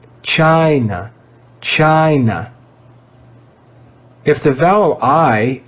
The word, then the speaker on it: China: and we said that in the word China, the vowel I is pronounced with the long I sound, I, because the vowel comes before a single consonant, and because the vowel I was in a stressed syllable.